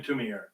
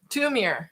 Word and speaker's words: Thoumire: So this is called Simon Thumeyre's Jig. It's spelled Thoumire. I don't know Simon Thumeyre, but he's somebody who does. Simon Tumier. Tumier.